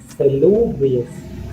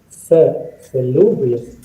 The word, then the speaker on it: salubrious: It is salubrious. Salubrious. Salubrious. Okay, lu should be given stress. Salubrious.